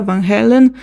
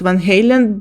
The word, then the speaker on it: Van Halen: Sabbath Mega corn panta Van Halen Van Halen sorry Lim biscuit and many others so basically I know that Van Halen is pronounced Van Halen but my Russian mind be like vanhalen oh yeah this is